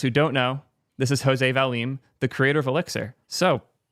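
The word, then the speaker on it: José Valim: Do you mind correcting my pronunciation quick? Uh, it's Jose Valim, but don't Jose.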